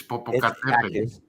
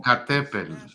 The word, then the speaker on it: Popocatépetl: I was gonna intervene there and say it properly. It's Popocatépetl. Wait, say it again. Say it again. Popocatépetl.